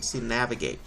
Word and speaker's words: navigate: let's hear it sounded navigate all right so uh the stress is going to be on the first syllable over here nav navigate all right an ipu version